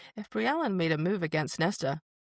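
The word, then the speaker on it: Briallyn: Brian Bri Allen.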